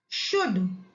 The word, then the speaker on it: should: should, SHOULD, should। यहां पर भी एल को हम साइलेंट पढ़ते हैं, शुड।